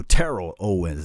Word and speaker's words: Terrell Owens: the same thing we had Terrell Owens so Terrell Owens that's how you say his name say the